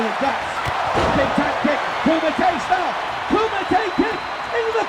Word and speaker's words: Kumite: goddamn podcast, it's not Coomite. It's not Coomite. It's Kumite. Coommitay.